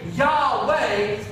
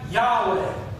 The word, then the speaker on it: Yahweh: say this name so the Hebrew language it doesn't have vowels and stuff it has lots of Yoda and eyes and titles and things like that in it that kind of describe how to say the words but it has no vows so we're not really sure how it's supposed to stand we don't really know how to say this thing and so the reason